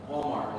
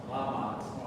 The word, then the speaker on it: Walmart: In Walmart, it has an R, but you don't pronounce the R. You have to say. Yeah, Walmart.